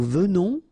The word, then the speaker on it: venons: Okay, so final S not pronounced, and then remember that you pronounce this like a the, venons. Okay, O-N in your nose, on, venons.